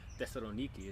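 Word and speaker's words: Thessaloniki: backwards he started almost in thessalonica yeah um which is desironiki if you want to say it right all the way up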